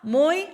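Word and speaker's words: мой: 모이, 마이야, 마이요, 마이. 다시 자, 여기에서 모이는 오의 강세가 있으니까 오로 발음되죠. 마야, 마요, 마이 됩니다.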